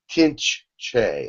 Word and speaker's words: Tinch Che: He is going to give an attunement for the Tinch Che. I'm sorry. And it is. How do you spell that, Jim? T-I-N-C-H, and then the second word is C-H-E, but it's pronounced Che. Tinch Che.